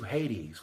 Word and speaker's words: Hades: Anyway, so it also leads us to Hades, which rhymes with ladies, and that is not a coincidence.